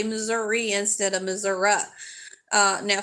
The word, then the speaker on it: Missouri: recess time for so long if you didn't pronounce it right and if you continued to say Missoura over and over each time your time out